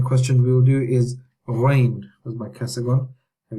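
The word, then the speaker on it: غين: The next letter in question we will do is ghain. Where's my cursor gone? Here we go. Ghain. Ghain is like a gargle sound. It's not in English.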